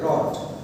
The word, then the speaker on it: wrath: I told my wrath, a W is silent, okay, wrath.